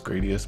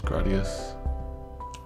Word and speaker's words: Gradius: So I always pronounce this Gradius, but it's Gradius.